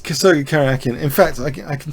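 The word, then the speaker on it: Karjakin: against Sergey karakin um or carjacking as as he's often pronounced carjacking no C karakin in fact I I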